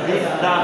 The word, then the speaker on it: বিদ্বান: উদ্বোধনী অনুষ্ঠান বুঝতে পারছেন তবে একটা শব্দ আছে ব্যতিক্রম এই শব্দটা নিয়ম অনুযায়ী হবে কি বিদ্বান কিন্তু শব্দটা বিদ্বান হবে না বিদ্যান হবে বিদ্যান লোক জ্ঞানী লোক এটা হলো ব্যতিক্রম হ্যাঁ ব্যতিক্রম হ্যাঁ এগুলোতে